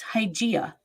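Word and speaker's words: Hygieia: going to hear why it's hygiena you know as in hygiene the greek goddess idea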